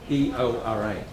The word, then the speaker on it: Eora: Firstly, I wish to recognise the traditional owners of the land we occupy, the land of the Gadigal people of the Eora Nation, E-O-R-A, pronounced Eora.